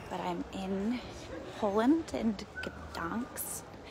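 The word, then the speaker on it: Gdańsk: I'm in Poland and guns which I thought the G was silent and the g is not silent so it's ginks gin Poland and it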